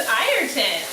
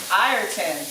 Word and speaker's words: Ayrton: His name is Ayrton. Ayrton.